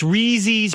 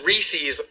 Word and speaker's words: Reese's: How about Gary goes That's Reezy's peanut butter cups. Reezies. Did you didn't hear me? It's But the guys here told me it was Reese's.